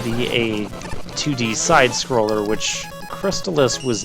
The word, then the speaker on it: Crystalis: the crystallis stage yes I'm pronouncing it crystallis force Tallis as some other people call it yeah this is another